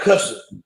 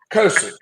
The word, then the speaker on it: cursing: They call it cussing. But pronounce it correctly, cursing.